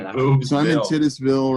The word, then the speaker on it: Titusville: We pronounce it Titusville. Oh, Titusville. Tis.